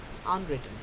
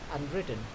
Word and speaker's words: unwritten: For example, at unwritten, we don't say unwritten, it is unwritten, right?